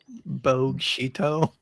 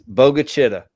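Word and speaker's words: Bogue Chitto: How would you pronounce? Not Mississippi, obviously, but these. Bogshito. Yeah, Bogshito. Yeah. It's Bogachita.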